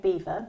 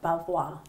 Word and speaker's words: Belvoir: So we're saying Beaver. Yeah. But like you say, some people say Belvoir.